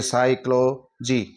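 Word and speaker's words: psychology: से पहले पी आया है इस पी को साइलेंट करते हुए हम इसकी ध्वनि निकालेंगे तो ये साइक्लो जीी साइकोलॉजी इसी तरह साइकोथेरेपी यहां भी एस से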